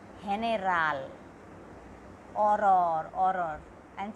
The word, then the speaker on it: horror: Horror, I am saying horror, not horror. H is silent in Spanish.